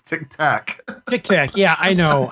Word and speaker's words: Tic Tac: to you keep saying you keep saying Tick Tock and it's Tic Tac Tic Tac yeah I